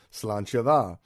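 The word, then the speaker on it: sláinte mhaith: in lovely gaelic fashion it's spelled nothing like it sounds in English so if you're out drinking be it Guinness or tea raise a glass and repeat the phrase salon shava now I wrote a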